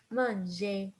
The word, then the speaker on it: manger: So remember, regarder, dessiner, étudier, manger, parler. We never pronounce the R.